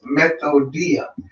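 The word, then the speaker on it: μεθοδεία: It's G3180, and the way you pronounce it, it says methodia.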